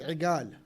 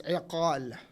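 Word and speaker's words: عقال: It's called in their dialect igal. If you pronounce it with correct Arabic, it's iqal.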